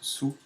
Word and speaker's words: Tsù: sue alors je répète ça s'écrit sous mais ça se prononce sous si je clique est